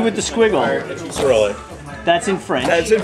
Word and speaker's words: Cyrillic: This is acrylic. Cyrillic. Cyrillic. C with the squiggle. Cyrillic.